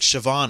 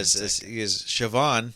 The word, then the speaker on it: Siobhan: of Irish names like Siobhan is a very famous one yeah the be can sometimes V yeah shoban is spelled Coban yeah s i o b a n Sheila is s i